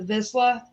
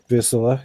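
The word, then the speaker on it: Vizsla: The miniature greyhound, or as your daughter said, the Visla, I think is how it's pronounced. Visla, yeah, Visla.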